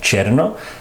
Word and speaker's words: tierno: It's like a fusion And here it sounds like he says "cherno" he pronounces "tierno" more like "cherno" which is typical in Philippine language Here, where he says